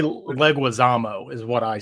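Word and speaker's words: Leguizamo: and John Legusmo is it how do you pronounce his surname is it legume I say leguisamo is what I say legismo leguisamo right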